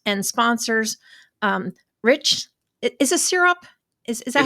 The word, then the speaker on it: Sirop: Is it Sirop? Is that how It's you pronounce it? Sirop. It's Sirop.